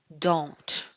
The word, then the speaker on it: don't: Don't. Presta atenção na minha pronúncia nessa frase aqui, ó. I don't work outside. Eu comi o T. Sim, eu comi na pronúncia porque eu juntei todo mundo.